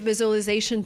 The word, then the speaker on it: visualization: We don't say visualization. We say visual. Visualization. So it's not the z sound like zebra. It's a sound like usual. Usual.